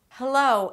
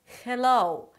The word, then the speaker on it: hello: 'H' 'hi' 'horse' 'hello' and not 'g' 'g' 'gello' The 'g' sound happens